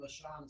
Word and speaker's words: lashon: Well, you can pronounce it with an O, but it's better. It's more proper in English for it to be L-A-S-H-O-N.